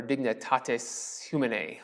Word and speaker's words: dignitatis humanae: Human dignity, or dignitatis humanae, I think is how you say it in Latin.